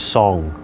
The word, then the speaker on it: song: there's a concept that the chinese called soon in english we spell it as song so people will call it song s-o-n-g and soon soon refers to relaxing and